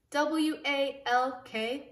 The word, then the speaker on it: walk: with it is walk w-a-l-k walk again it looks like it would say walk but it doesn't that sounds funny walk